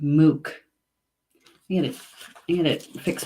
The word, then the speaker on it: muc: and that is Sal and in Gaelic its MOOC MOOC it spelled mu C pronounced MOOC you know and it fix my camera here